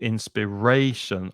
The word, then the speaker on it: inspiration: inspirationally and the noun inspiration but the stress is not on the final syllable inspiration on the third syllable inspiration it fills me with